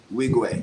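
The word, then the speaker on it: Nwigwe: Wigway, yeah, Yeah. the N is silent. So just Wigway.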